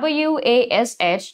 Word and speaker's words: wash: กัน เนาะ ถ้า เป็น w a s h ที่ แปล ว่า ชะ ล้าง ทำ ความ สะอาด จะ ออก เสียง ยาว กว่า เป็น Wash Watch แต่